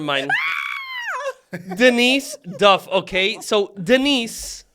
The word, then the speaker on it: Denice: So Denice, by the way, is the original D-Nice. Oh, gosh, yeah. Because her name is actually spelled with a C, like D-Nice, like actually.